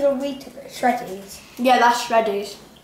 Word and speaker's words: Shreddies: Yeah, that's Shreddies. Correct. It rhymes with Freddies.